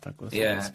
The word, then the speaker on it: Duckworth-Lewis: Yeah, Duckworth-Lewis method.